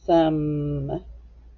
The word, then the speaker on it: some: short u and then we hear the m some let's go ahead and